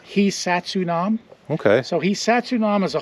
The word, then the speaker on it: Hisatsinom: we've now been asked to call it the hunam by their descendants how is it pronounced hunam okay so hunam is a Hy word meaning